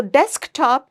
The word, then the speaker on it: desktop: So desktop is a compound word. So when a compound word is used as a noun, we will stress on the first word, that's desk.